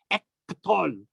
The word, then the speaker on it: Ektol: Ektol. That's how I would pronounce it in Aramaic.